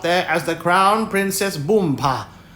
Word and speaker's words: Boompa: as the Crown Princess Boompa. You accent the last syllable.